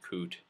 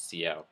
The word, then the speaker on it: cout: they have cout and cin can actually be referred to as sin and coot. It doesn't really matter as long as you know what people are actually talking about. It's sort of a pronunciation type situation. Its proper name is cout, but if you know it as whatever, that's probably what you're going to call it. Moving on, there are different,